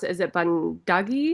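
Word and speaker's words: 번데기: I don't know how you pronounce it. Is it bundugi? Bandegi, yeah, Yeah, bandegi.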